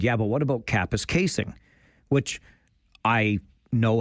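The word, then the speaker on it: Kapuskasing: He said, yeah, but what about Kappa's casing? Which I know how to pronounce, but I remembered a story about a news anchor who had famously mispronounced it.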